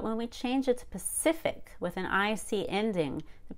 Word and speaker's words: Pacific: Again, stress one syllable to the left of ick or ickle. Atlantic. Pacific.